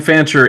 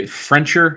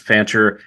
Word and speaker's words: Fancher: I think Frencher or something like that. Yeah. I accidentally added an extra R in there.